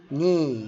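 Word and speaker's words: knee: الك لو ج وراه حرف الان الك ما بتنطق زي كلمه ن ن يعني يعرف نايف يعني سكين ني يعني ركبه برض حرف البي لو ج قبليه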